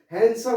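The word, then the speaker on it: handsome: एस ओ एल ए यहां पे जो है हैंडसम होता है दी साइलेंट हो जाता है सो देखिए मेरे पिताजी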